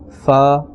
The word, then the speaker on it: ف: Alright, and only 4 letters from these 29 letters are pronounced from the lips, and those letters are ba, fa, mim and waw. Besides these 4 letters, no other letter must be pronounced by moving the lips.